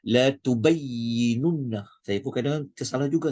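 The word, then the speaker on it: لتبيننه: Wa idh akhadhallahu mithaqal ladzina utul kitab la tunab la tubay. Ni kalau tak hati-hati ni boleh salah ni kalau laju ni. Bacanya la tubayyinunna.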